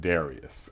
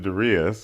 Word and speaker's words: Darius: call me darus uh most people pronounce eight billion people on the planet pronounce it Darius exactly only I pronounce it darias I just hit the